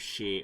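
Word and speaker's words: 四: In Japan, the traditional pronunciation of the numeral 4 is shi, which also means death, and there's a whole bunch of superstitions around that.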